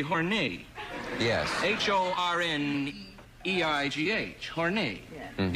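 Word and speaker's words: Horneigh: The French pronunciation would be Horney. Yes. H-O-R-N-E-I-G-H. Horney. Yeah. Mm-hmm. Yes. But for American consumption, it became Horney.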